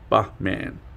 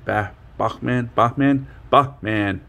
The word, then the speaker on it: Bachman: And then he usually reassures me in a private message that, yes, you have nailed my name, Bachman. Because, like, laugh, Bachman.